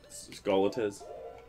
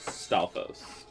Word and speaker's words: Stalfos: Trying to kill those two Skolitas. Yeah. Or Skolitas. Stalfos.